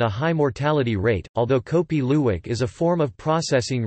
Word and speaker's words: kopi luwak: Kopi Luwak, Indonesian pronunciation, Kopi Lu, or civet coffee, is